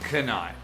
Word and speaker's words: knight: Finally, there are the horrible silent letters, like Iserland and Knight.